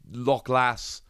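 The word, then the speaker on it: Lokhlass: i have just checked it is lock lass and i'm very sorry about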